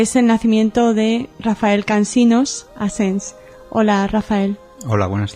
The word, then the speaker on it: Cansinos: allí, pues eh eh se dejó de pronunciar Cansinos y se pronunciaba Cansino.